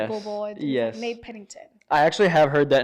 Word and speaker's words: Pennington: Pennington. Pennington. Oh, that's not hard. It's pretty simple. Yeah, it's pretty much how you spell it.